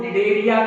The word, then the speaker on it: Cnidaria: में पढ़ेंगे, ठीक, जिसको निडेरिया कहते हैं। निडेरिया के नाम से जानते हैं। तो निडेरिया में यहाँ पर सी साइलेंट है, इसके लिए कहते हैं।